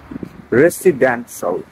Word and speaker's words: residential: তো শিয়ালকে কি মেরে ফেলতে হবে না, তো শিয়ালকে মেরে ফল বানাতে হবে, তাহলে উচ্চারণটা হবে residential.